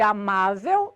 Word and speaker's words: amável: A sílaba tônica de amável é o má, penúltima.